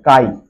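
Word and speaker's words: chi: এটা সোজা ছাতা এটা উল্টো ছাতা এটা হচ্ছে কাই স্পেলিংটা এটা সি এইচ আই ছি মনে হবে কিন্তু কাই প্রোনাউন্সিয়েশন টা কাই সম্ভব গ্রাহিতা কাই ঠিক আছে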